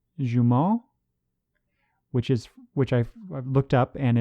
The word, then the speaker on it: Jumeaux: I think it's pronounced Jumeau, which I've looked up, and it's spelled Jumeaux, and so that is French for twin.